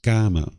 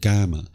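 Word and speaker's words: kamma: to it as karma karma is the Sanskrit version of this word where the pi version is in uh is pronounced GMA the original teachings of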